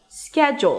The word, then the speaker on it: schedule: Schedule. The first syllable is the primary stress so it's higher in pitch and longer schedule.